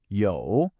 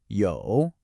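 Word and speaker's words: 有: That is absolutely critical. It tells us this is a third tone. Now, to get this right, I want you to imagine your voice is on a little roller coaster. It starts in the middle of your range, it dips down low, and then it rises back up again.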